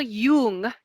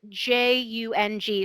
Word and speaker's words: Jung: sort of Canon but Carl Jung and it's spelled Ju ng so Carl Jung actually is the first